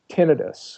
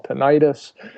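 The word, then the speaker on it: tinnitus: us feel better like I have terrible tinitus which is a technical term for what lay people call tentis and I try to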